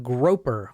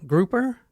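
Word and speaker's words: Gropper: estate agent Elise Stern groper grouper groper grer I spell it g r o p p e r groer g r o p p e rer yeah it's right there it's on the Facebook thing where I've I've actually heard it pronounced both ways groper and grer groper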